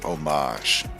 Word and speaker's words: homage: The word you were looking for is homage. The H Homage. is silent.